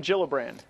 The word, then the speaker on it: Gillibrand: right here alright so kirsten gillibrand not Gillibrand it's a soft shade now the Minnesota woman